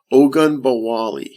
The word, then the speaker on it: Ogunbowale: Ogunbowale.